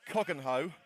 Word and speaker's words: Cogenhoe: Well, I'm going to try and pronounce the name correctly. It is Cogenhoe, but sometimes it's just a slip of the tongue.